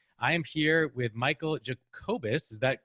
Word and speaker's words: Jacobus: I am here with Michael Jacobus. Is that pronounced correctly?